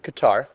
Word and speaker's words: Qatar: So if we see here in this word problem, it says the population of Qatar uh maybe pronounced gutter as well according to the world factbook is increasing at a rate of 4.94% every year.